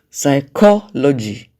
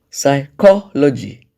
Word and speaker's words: psychology: syllable there is CLA psychology psychology the stress syllable there is core you realize that some